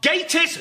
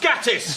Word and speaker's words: Gatiss: Despite that, there is still a 49% chance that when introduced, his name will be mispronounced. Yes, please. So, please welcome Mark Gatiss, not Gatiss.